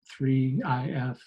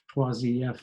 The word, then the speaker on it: IIIF: So IIIF is an acronym for the International Image Interoperability Framework, pronounced IIIF, 3IF, 3IF if you're in France.